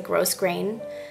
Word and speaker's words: grosgrain: but a lot so a lot of people say grosgrain and it's really not gross it's just grow I don't know why